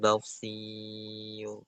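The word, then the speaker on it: بصير: Innallah samiun basir. Basir ee shnya tebal, rnya tipis.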